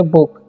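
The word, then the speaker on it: book: और योर यहाँ पर इसे BOO के है, तो इसे हम लोग पढ़ेंगे बुक। ठीक है, यहाँ पर डबल ओ है लेकिन यहाँ पर इसका हर्षु उच्चारण होता है, तो इसको आपको ध्यान रखना है ना।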